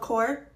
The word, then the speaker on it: Corps: I posted yesterday because turns out Job Corps, the S and the P are silent.